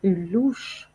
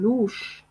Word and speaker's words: louche: بالفرنسية نقول une louche. une louche. une louche donc C مع H كتنطق H. une louche.